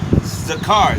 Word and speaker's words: Zakar: a car not enough the car not tazada zakar z-a-k-a-r that's my name in the spirit I've